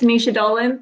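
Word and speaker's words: Naoise Dolan: It's Nisha Dolan.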